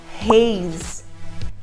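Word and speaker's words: haze: reis reis pode perceber Reis termina com e Então você já sabe que a titi Andreia já falou terminou com e a gente não pronuncia o e então ele vai terminar com o som do Z Reis e o código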